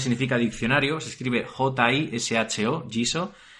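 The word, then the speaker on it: Jisho: Jiso en japonés significa diccionario, se escribe J-I-S-H-O, Jiso.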